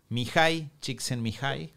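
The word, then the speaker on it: Mihály Csíkszentmihályi: Cómo se escribe igual porque escucharlo solamente suena como que se escribe más fácil de lo que se escribe Claro en realidad voy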